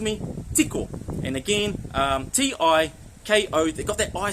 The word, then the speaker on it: tiko: So tick really put the emphasis on that I sound. Okay, it's pronounced as an e tik.